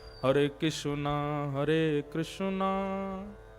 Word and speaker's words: कृष्ण: बहुत लोग अशुद्ध बोलते कई लोग कृष्णा बोलेंगे कई कृष्ण बोलेंगे कई कृष्ण बोलेंगे कई कृष्ण कृष्ण पता ही नहीं क्या क्या बोलते हैं कृष्ण शब्द शुद्ध उच्चारण नहीं करते हमारे गुजरात में चले जाओ कृष्ण कृष्ण रुक्मणी नहीं रुक्मणी कृपा नहीं कृपा हृदय नहीं हृदय गुजरात की भाषा अलग है लेकिन वास्तव में कृष्ण ये शुद्ध उच्चारण तो महात्मा ने उसको